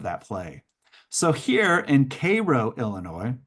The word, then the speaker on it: Cairo: the playing of that play So here in Cairo Illinois spelled like Cairo but we pronounce it Cairo in southernmost Illinois uh you see the African-American